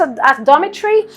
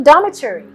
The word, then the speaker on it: dormitory: if you pronounce its Adama tree you may miss out on this letter dummy tree but if you pronounce it correctly dormitory Dhamma tree you get it right otherwise here and you